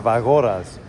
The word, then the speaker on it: Evagoras: Evagoras.